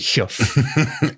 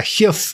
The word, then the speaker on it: heugh: Stone ah and a huff is is exactly exactly that it's a it's a cliff especially an overhanging Cliff now I'm saying Huff because I think that's the northeastern pronunciation of it it's spelled h e